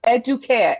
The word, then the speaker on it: Educare: no my name is my name is pronounced educate i do care it means to be pampered okay educate okay educare i'm gonna give you